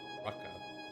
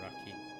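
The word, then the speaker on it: raqi: It was R-A-Q-I, but she pronounced it Raka rather than Raki.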